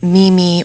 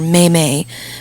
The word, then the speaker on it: meme: Okay, so meme, incidentally, is often pronounced as Mimi or Meme, but in fact should be pronounced meme.